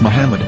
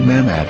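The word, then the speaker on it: מחמד: after the H according to Ben yehuda's Hebrew English dictionary it is correctly pronounced as Muhammad not mmad so how we're going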